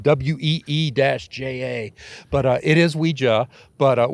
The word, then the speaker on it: Ouija: You know, and they'll even say in some of their ads, Ouija, WEE-JA.